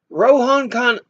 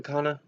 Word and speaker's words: Khanna: the people Rasheeda Talib Rohan Khan I think I've mispronounced isn't named Rohan Khanna ro Khanna yeah that's his name row Khanna people who